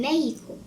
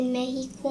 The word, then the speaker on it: Mexico: Mr. Brown said, Felix, here we say Mexico. If you were in Mexico, you could say Mexico. But when you're in California, you say Mexico. Otherwise, it would just be rude. Do you understand, Felix? yes. The word is pronounced Mexico.